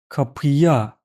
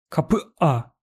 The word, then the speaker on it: kapıya: If you don't use buffer, then this is very hard to pronounce and it is preventing you to speak fast. Let's compare both ways. Kapıya, kapıya. Very smooth transition. Kapıa, kapıa. Look, between two vowels, I needed to stop.